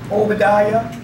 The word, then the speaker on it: Obadiah: hear it Isaiah Zachariah so whenever you see the I a at the end of a name it always pronounced as the yah Jeremiah Zachariah Obadiah Saints it's very important